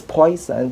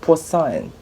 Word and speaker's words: Poisson: or to read because it looks like the spelling could be pronounced as poison but it's actually poisson okay so it will